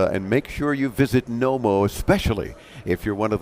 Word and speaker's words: Knomo: real quick why the name Nomo so K is silent how'd you come up